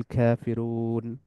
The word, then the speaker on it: ك: আর কাফ হলো যে তালুর শক্ত অংশ যেটা, ওইটার সাথে জিহ্বার পেছনের অংশ যুক্ত হয়ে উচ্চারিত হয়, কাফ, খাফ, খাফ, খা।